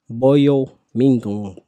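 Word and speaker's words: Boye Mafe: I'm going with defensive end Boyo Ming from Cincinnati.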